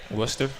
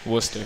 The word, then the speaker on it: Worcester: So, you're from the East Coast and pronounce it for me. Worcester.